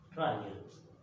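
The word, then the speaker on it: Reil: Rayel, el alemán Eis se pronuncia Ay, ¿no?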